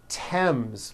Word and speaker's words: Thames: spelled with a th they are pronounced as if they were spelled with a normal t t like that and these words are thomas thompson teresa thailand thames like the river esther